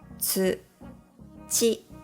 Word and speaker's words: つち: Also, tsu is similar to the ts sound found in cats. Let's practice them in words. Tsu, chi, tsuchi.